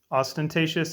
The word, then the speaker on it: ostentatious: word today is ostentatious ostentatious is pronounced four syllables ostentatious is an adjective meaning